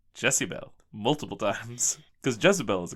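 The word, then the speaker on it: Jessiebelle: no they do not they do not pronounce it Jezebel they pronounce it jessibel multiple times cuz Jezebel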